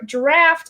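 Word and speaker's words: draught: totally mispronounced that yeah i would have said drought of living death and this is like real quick heads up it's draft yep it's draft of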